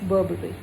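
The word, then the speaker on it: Burberry: It's very nice, बहुत अच्छा brand है, बट प्रोनाउंसिएशन इज़ बर्बरी।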